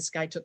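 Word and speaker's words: Skiatook: brittany hats off to you she resides in sky took i had to ask her how to pronounce that sky took oklahoma and when britney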